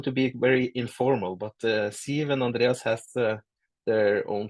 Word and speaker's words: Siw: my first name, Siw, you have to think of Steve and then remove the T, and then you will get it, because people always get confused with the W in Siw.